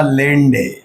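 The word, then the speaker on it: Landé: आपको जान के अच्छा लगेगा कि मैग्नेटिक क्वांटम नंबर को खास आदमी ने दिया था जिसका नाम था लेंडे। हाँ, ध्यान से, कोई और प्रोनाउंसिएशन नहीं।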